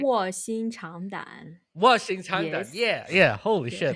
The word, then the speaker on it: 卧薪尝胆: Washing Changdan.